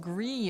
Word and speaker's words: Gris: some october stuff it's pronounced gree it's french for gray i see gree it's